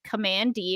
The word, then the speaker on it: Kamandi: the short starts out with command which is pronounced command D and we'll talk about that a little later